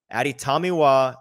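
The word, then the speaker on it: Adetomiwa: I can tell you for sure it is Aditamiwa Adibare.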